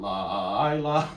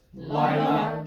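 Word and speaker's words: לַיְלָה: There's no pickup word for Lila. So it's not Lila or anything like that. It's just Lila, just like or, right?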